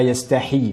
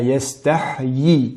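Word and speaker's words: يستحيي: La lettre Ya de yastahyi, il faut bien la prononcer, car on aurait tendance à dire la yastahi, mais bien la yastahyi, yi, la yastahyi an yadriba mathalan ma ba'udatan fama fawqaha.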